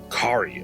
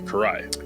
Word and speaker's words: Karai: have the ultimate cut Kari I believe is the Karai sorry Karai is the correct pronunciation of that she was a former